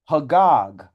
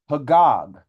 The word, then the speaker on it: Chagag: So the word for that in Hebrew is Hagag, Hagag, which is spelled Chagag.